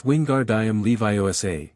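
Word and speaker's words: Wingardium Leviosa: It's Wingard Levi. Make that gar nice and long.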